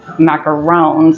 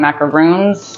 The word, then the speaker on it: macaron: That also came up because we were talking about, by the way, it's macarons, not macaroons. Macaron. Yes.